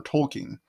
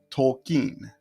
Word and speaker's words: Tolkien: I was a boy, I mispronounced the name like many other people. I thought it was J.R.R. Tolkien. His full name is John Ronald Reuel Tolkien, not Tolkien.